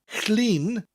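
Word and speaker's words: Llun: but I teach you clean sounds like lean like you're leaning of something but with that double L that sound at the beginning of the word clean just say to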